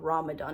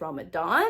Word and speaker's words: Ramadan: I did do Ramadan, which, okay, first of all, I learned apparently I was saying it wrong. It's not Ramadan, it's Ramadan.